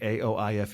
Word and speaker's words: Aoife: It was like Aoife. It's an Irish name.